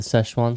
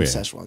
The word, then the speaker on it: Sichuan: episode for season 3 it's all about the sesan sauce godamn Sichuan sauce Morty some of that a pack of